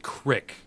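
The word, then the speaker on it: creek: Who was a kid playing with his friends by a, they pronounced it crick.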